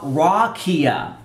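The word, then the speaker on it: רקיע: dictionary it's the Hebrew seven five four nine pronounced raw rakia and it is a primitive root means to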